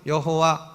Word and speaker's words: 여호와: 스스로 있는 자 헤어 히브리어로 발음은 여호와 라고도 하고 야외 라고도 발음을 하는 것입니다 4 중요한 것은 여기에